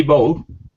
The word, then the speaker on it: bought: Bought. Just Okay. like the end of the word robot. Bought.